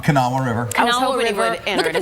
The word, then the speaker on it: Kanawha: Pronounce that, Kanawha. Kanawha River.